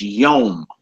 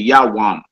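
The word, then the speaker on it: יוֹם: The next one is day, and it's masculine, and it's yom. Yom. Yom. You hear some brothers who don't pronounce vowels. They say yawam, yawam. So don't argue over spilled milk. They saying the same thing.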